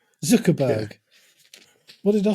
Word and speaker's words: Zuckerberg: his name what did I say go and pronounce it for Zuckerberg Zuckerberg what did I say z zberg um that